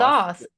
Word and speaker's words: Thoth: Thoth. It sounds like you're just saying sauce with a lisp.